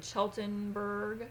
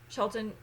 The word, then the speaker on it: Cheltenham: I think I'll be staying in Cheltenberg. Yes. Cheltenham.